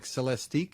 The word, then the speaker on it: Celestiq: to be available in the very highend cadal celesti if I'm saying that right yeah you said